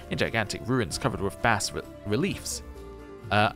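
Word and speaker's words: bas-reliefs: gigantic ruins covered with Bast reliefs uh it's not bass is it it's like bar reliefs or something like that anyway somebody told me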